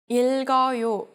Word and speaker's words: 읽어요: If the following syllable begins with a vowel sound, you will split up the double consonants across the syllables. In all cases, only the last consonant will jump over. 읽어요.